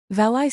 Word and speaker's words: valet: For valet, some people say valai and some say. Both are fine, but valet sounds a bit more old money.